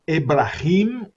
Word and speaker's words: Ebrahim: e também o Irã, a pronúncia do Ebrahim é um H com rim, o R do raiz é Raisi, o S é quase como se fosse dois S, Ebrahim Raisi.